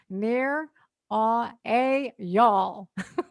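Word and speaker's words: Nir Eyal: This guy wrote a book about it called Indistractable, near a y'all. That's how you pronounce it.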